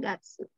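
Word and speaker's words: がつ: sama bulan 1.1 tapi kalau satu bulan Ika getsu getsu dibacanya get to kalau apa namanya tuh rentang waktu yang tentang waktu Tapi kalau nama bulat dibacanya Gatsu di setang bulan Januari 3 atsu bulan Februari nigatsu itu aja terus tangga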